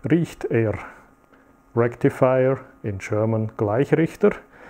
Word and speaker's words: Gleichrichter: Rectifier in German, Gleichrichter. But if you pronounce it a little bit different, it's a gleich riecht er. That means it will start to smell quite soon.